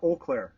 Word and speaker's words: Eau Claire: do you say that you you Claire uh Eau Claire and that means uh clear water it's a